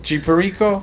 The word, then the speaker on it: Perico: and G was that G Precis, how you pronounce his name? G Perico.